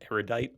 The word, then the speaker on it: erudite: the Ariel diet is how you say it erudite it just erudite erudite erudite yeah she like